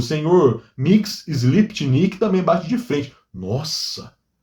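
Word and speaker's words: Mxyzptlk: Mix Sliptnik. Para quem não sabe, é assim que se pronuncia o nome desse duendezinho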